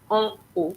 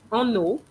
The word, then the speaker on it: en haut: With that H, you need to say en haut. There's no liaison between the two words. Think about it as well. If you pronounce en eau, you know that eau is water.